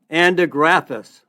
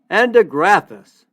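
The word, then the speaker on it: Andrographis: The herb is Andigraphis. Andigraphis. It's spelled A like apple, N like Nancy, D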